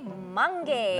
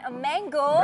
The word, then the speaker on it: mangge: Nasi mangge. Nasi mangge. Bukan mango.